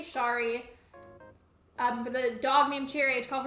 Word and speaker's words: Shari: Also, Musical Sleeping Cat, you said Shari is pronounced like Sherry, and then Hank said I usually go Shari just so I can say Sherry on.